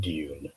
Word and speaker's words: Dune: say this well as as a dedicated englishman i i call it dune okay and i like to emphasize the you to it and and